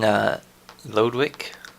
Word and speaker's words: Lodewijk: King Lodewijk, yeah, that's how I'm going to pronounce it.